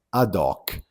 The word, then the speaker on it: ad hoc: Ad hoc. Attenzione che in italiano non pronunciamo mai la lettera H.